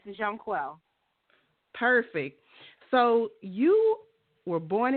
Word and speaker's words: Jonquel: the show let's welcome John quell to the show hi hello how are you I'm fine thank you so much for having me now am I pronouncing your name correctly yes Jean quel perfect so you were